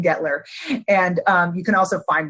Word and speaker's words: Guettler: That U is silent in Guettler.